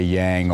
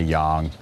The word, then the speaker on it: Yang: who you're training with the pronunciations can be different in the United States we say yang over there they say young and some people say